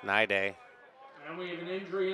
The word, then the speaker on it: Nide: Now the PA guy doesn't know that. He's pronouncing his name wrong. It's Nide.